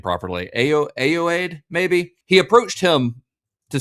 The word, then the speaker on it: Ayoade: why I looked, but it says A I then O W A A D E E. That's how it lists the pronunciation. So, that's like A A Ayoade.